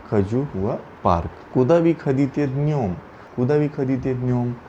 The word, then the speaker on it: ходить: Here is the conjugation of this word khadit. Ya khoju, ti khodish, on ana khodit, vi khadite, moi khodim, ani khodyat. The stress is on o after kh.